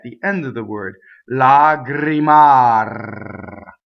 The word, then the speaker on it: lagrimar: So, there we have the two rolled R's and A and A. Now, you can do what I call a purity test, where you check the purity of your vowels, right? So if you just said vowels in this word, you could say a, e, a. Now it should feel exactly the same when the R's come back in. Lagrimar. So that's your purity test.